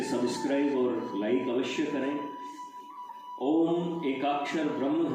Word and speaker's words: ओम: बहुधा अशुद्ध उच्चारण के कारण ओम का स्वरूप रोमन लिपि में ओ एम अक्षरों से दिखलाया जाता है। परंतु इसका शुद्ध स्वरूप केवल ए यू एम अक्षरों से ही दिखलाया जा सकता है।